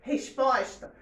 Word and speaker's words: resposta: Então, o pós é a sílaba tônica. O res não é, nem o tá. É o pós.